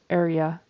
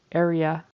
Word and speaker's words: area: I'm not even sure he said all the syllables but it definitely should be three syllables area area and much nearer for